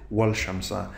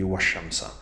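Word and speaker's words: والشمس: You can't pronounce it wal shamsa, but it should be washamsa.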